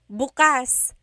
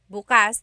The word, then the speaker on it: bukas: If you say bukas, bukas, the emphasis is on the second syllable. That means open. If you say bukas, bukas, emphasis is on the first syllable. that means tomorrow.